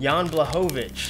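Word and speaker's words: Jan Błachowicz: as well so uh yawn how do you pronounce his last name jan blehovich that's a nice yeah that's so that's it out of 49.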